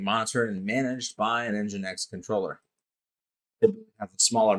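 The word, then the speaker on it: NGINX: Then we have engine X which is pronounced just like it sounds engine X plus load balancing and application delivery.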